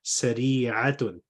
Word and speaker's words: سريعة: So be very, very clear about the pronunciation and difference between ain and hamza. So the way you said it, it sounded like a hamza. So what you want to say is sari'atun, sari'atun, as-sayyaratu sari'atun. Okay.